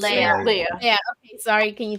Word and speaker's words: Leia: The first one, it's Leah, Star Wars, right? Carrie Fisher got her star in Hollywood. That is pronounced Leia. Leia, is it Leah or Leia? It's Leia.